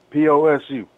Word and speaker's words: Posu: Yeah, P-O-S-U.